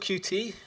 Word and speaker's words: Qt: say what is cute it's pronounced cute be I know how many people are familiar with cute some are some might not be so I'll just give you a quick overview it's called cutie the origins come from